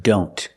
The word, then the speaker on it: don't: Or when we see the word don't. A lot of times the T in don't is silent.